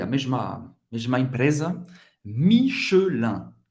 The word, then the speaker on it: Michelin: Michelin. Michelin. Pronunciado rápido em francês nativo seria Michelin. O E desaparece. Michelin.